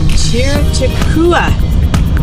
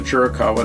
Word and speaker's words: Chiricahua: From there, we drove out to Chiricahua National Monument. Yes, we believe that's the proper pronunciation.